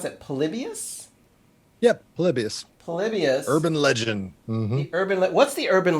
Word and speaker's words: Polybius: some more conversation this is how do you pronounce that polybius yep polybius polybius urban legend the urban what's the urban